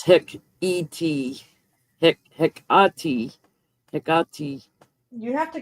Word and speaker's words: Hecate: Okay, Google is saying Hecate, Hecate. like HEHKUHTEE.